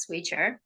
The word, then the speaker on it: Swychr: the company the name of the company is pronounced swier but spelled a bit differently so um first